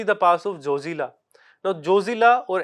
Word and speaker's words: Zojila: Now, Zojila or as it is pronounced Zozi in the Ladakhi language, it is basically a mountain pass of blizzards.